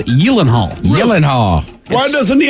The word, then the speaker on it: Gyllenhaal: Gyllenhaal and Gyllenhaal it's Gillen Hall Illinois I have a list Mr Hill of the uh the celebrity names you're probably mispronouncing and I learned today that it is Yellen Hall Yellen Hall why doesn't